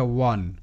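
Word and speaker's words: one: দেখি ও এন ই এটা কিন্তু অন নয় ঠিক আছে এটা ওয়ান ও এন অন অনেকেই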